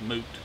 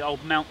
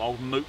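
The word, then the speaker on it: Mout: So we come back with an old moot cider. Moot? Yeah, I think people call it mount, but it's not. It's moot.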